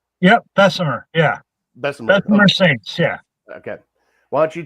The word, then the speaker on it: Bessemer Saints: Uh, let everybody know about I hope I'm pronouncing it right. It is Bessmer Saints, right? Yep. Bessemer. Yeah. Bessmer. Bessmer Saints.